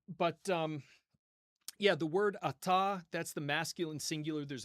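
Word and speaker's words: אַתָּה: In biblical times, it would have been ata. But in modern Hebrew, we just say ata ata kind of like apple.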